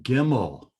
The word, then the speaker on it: gimel: The third letter of the Hebrew alphabet is GIMEL. It is pronounced as a kind of a hard G, as in God, Ga. There is no Ja sound in Hebrew at all.